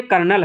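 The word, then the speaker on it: colonel: रहा वैसे कर्नल में कर्नल की स्पेलिंग तो बिल्कुल अजीब सी है। सी ओ एल ओ एन ई L. Friends यह कर्नल है। आपको कहीं से नहीं लग रही स्पेलिंग।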